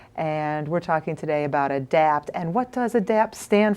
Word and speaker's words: ADAPT: just dropped that and adapt is adapt it is no longer an acronym even if it the name is spelled in caps so it's adapt how do you spell